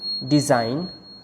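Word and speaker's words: design: अगला रूल है, अगर किसी वर्ड में N से पहले G आता है तो G साइलेंट रहता है। जैसे कि डिज़ाइन, साइन, rain, align, असाइन, ये कुछ एग्जाम्पल हैं जिनमें G साइलेंट है, G की कोई साउंड नहीं आएगी। अगला रूल है, अगर GH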